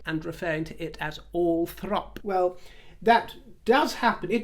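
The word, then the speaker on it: Althorp: that would assume that understandably assume that it would be pronounced all Thorp and you told me in the comments that you had heard others I believe even others on YouTube and Beyond saying that it's all throp and referring to it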